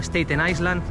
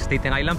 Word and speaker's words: Staten Island: llamaréis escuchado decir varias veces que se llama staten Island no staten Island no staten Island de hecho en el vídeo sobre el crucero de staten Island seguramente dicho alguna vez Stein Island pero para este vídeo quería cerciorarme de que